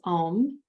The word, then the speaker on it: om: using the throat so this is a four syllable word and some of you have learned this for me before the word is om so it's a I should do it this way a u m silence the fourth syllable is silence so it's a u m silence when you're saying the a sound it's ah so it's like the doctor checking the tonsils ah when you're saying the